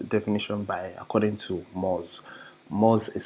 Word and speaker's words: Moz: way this is definition by according to moz moz is spelled m o z mos is one of